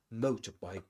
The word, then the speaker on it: motorbike: A huge motorbike with a giant astride it. A huge motorbike with a giant astride it. And we can even mention that bike here, even though it's a compound noun and that the main